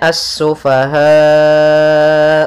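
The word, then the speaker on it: السفهاء: lafal assufaha di sini ada alif lam syamsiyah yaitu alif lam yang ditulis tapi tidak dibaca sehingga langsung kita membacanya ke huruf Sin kemudian asufahau wala kemudian padafal ha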